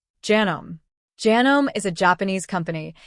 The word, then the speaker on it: Janome: It's Janome, not genome. Janome.